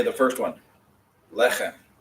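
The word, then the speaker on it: לחם: Lechem. Not lechem, lechem. It means bread. So you put in the accent in the second one. In this case, you're putting the accent on the first syllable one.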